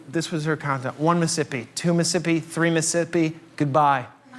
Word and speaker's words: Mississippi: McNally, it's not Mississippi. It's Mississippi. You're costing me an entire syllable of hydration with YOUR PIGEON ENGLISH."